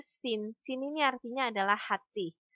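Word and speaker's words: 心: Ini bacanya sin.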